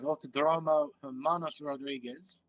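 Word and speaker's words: Autódromo Hermanos Rodríguez: They'll line up into their respective grid slots, and we'll get the 36 laps here at Autodromo Hermanos Rodriguez underway.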